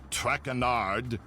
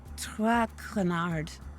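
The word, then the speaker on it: Traquenard: as for my name not trackanard it is track renard what can i do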